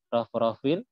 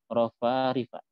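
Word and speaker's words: رفارف: Jadi bukan bacanya ala rafrafin, ya, tapi rafarifa.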